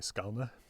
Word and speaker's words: Skåne: He traveled all around Denmark, or what was Denmark at the time, which includes the southernmost county of Sweden, Skåne, or as the locals say, Skalna, which is where the Hunnestad monument is.